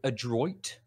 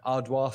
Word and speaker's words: Adroit: i think it's a adroit theory a-d-r-o-i-t edward or adroit yeah i guess it depends on if they're pronouncing the french the french way yeah yeah ardois theory perhaps um yeah